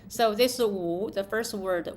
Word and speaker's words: 无: So the first word is 无无乌五乌 because the W and the U both pronounce U, so that's very confusing to the Americans.